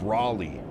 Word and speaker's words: Raleigh: It's pronounced Raleigh. Rally.